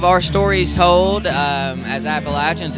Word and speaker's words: Appalachian: know you know what like it's Appalachian right it is like I make sure I'm saying it correctly like throwing an Apple at you you know I like